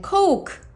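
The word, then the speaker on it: Coke: 콜라는 콜라라고 하지 않습니다. 그죠? 그래서 그냥 코크 코크라고 하시거나 아니면은 어 사이다 같은 경우도요.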